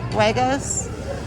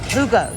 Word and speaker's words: jugo: Huegos? With a, how do you say it? Jugos. Jugo.